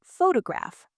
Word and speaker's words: photograph: For example, the word photograph. The stress is on graph.